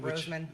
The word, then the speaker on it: Rosamond: Rosamond.